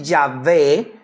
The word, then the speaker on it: Yahvé: También se le puede decir Yahvé, con acento en la E, y los diferentes compuestos de este nombre.